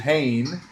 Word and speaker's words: Hayne: with a Kane and Kane rhymes with Hayne and hanne was in